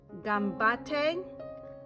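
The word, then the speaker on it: 頑張って: It is pronounced gambate, which means you can do it, good luck.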